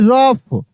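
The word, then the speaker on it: rough: River become R ओ यू जी एच यानी रफ यहां जी एच क्या है?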